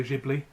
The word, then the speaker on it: Ghibli: big fan of Studio Ghibli and initiative because it's a friend Italian word it's not not so it's a soft G not a hard G like most Japanese so yeah japanese animation